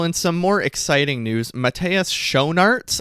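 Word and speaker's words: Matthias Schoenaerts: some more exciting news Matas sharts I believe is how you say it's name he's a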